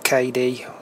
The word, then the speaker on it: Kadee: about couplings Etc recommended K couplings or KD there different ways you can pronounce it I think uh these